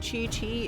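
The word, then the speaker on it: Qiqi: chinese lettering and how the word chi chi is spelled q-i-q-i listen listen i wanna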